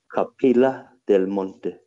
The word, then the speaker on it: Capilla del Monte: called Capiscia del Monte, it's spelled Capilla and Del and then Monte, Capilla del Monte, if you want to say it in English, with a double L, Capilla del Monte.